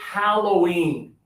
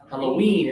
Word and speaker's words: Halloween: So we have if we want to stress the first syllable Halloween. Halloween. Yeah. So if we stress the first syllable, a Halloween. Which category? Sand. Sand. So we'll put it up here. H A L L O W E N. But sometimes you hear the second syllable stronger more strongly. Halloween.